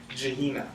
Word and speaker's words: Gehenna: I need the pronunciation from him though. I don't get it right. Which hell? Gehenna? Gehenna.